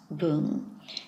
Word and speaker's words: 聞: word shinung or newspaper we're going to be using its Chinese pronunciation and that's boom okay let's have a